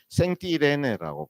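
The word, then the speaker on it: Saint-Irénée: 이 리에가 보면 지금도 이제 프랑스 발음으로는 성 이레네오를 생띠레네라고 불러요. 생 이레네인데 생띠레네 연놈해서 생띠레네라고 부르는데이 생띠레네이 성인을 그 본받아서 생띠레의 신학교도 있어요.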